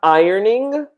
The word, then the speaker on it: ironing: here okay so ironing so in the spelling it's ironing but in the pronunciation in reality it's kind of the opposite I would say that the pronunciation would be more like this let's see so it's a strange pronunciation so we have ironing